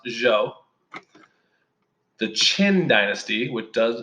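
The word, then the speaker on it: Zhou: today the Jo dynasty I know it looks like Zhao but it's pronounced Jo the Qin Dynasty what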